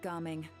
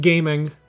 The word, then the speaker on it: Gaming: Step back a bit, Ging. This person could be dangerous. It's pronounced gaming, idiot.